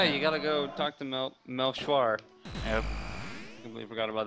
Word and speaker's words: Melchior: Did you say Melkor? I said Melkor. Yeah, I'm pretty sure we agreed it's pronounced Melchior.